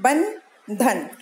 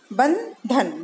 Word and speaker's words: बंधन: फिर है उसी के नीचे देखिए बंधन, ब के ऊपर बिंदी है, बंधन, उच्चारण है बंधन, बंधन। और उसके बगल में भी लिखा है ब आधा न ध न, दोनों का उच्चारण बिल्कुल एक जैसा है।